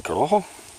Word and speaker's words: Corojo: Anyway, whatever the case, I've had one of these before in a Corojo. And yes, that is pronounced Corojo, not Corojo, gringo.